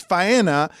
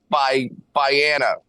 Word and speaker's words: Faena: So are you sure it's Faena in Miami Beach and not in Dania? Yes, it is. Biana. Okay, that's not pronounced correctly.